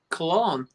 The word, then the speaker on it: BarryColon: Cologne. Oh, so cologne like the perfume.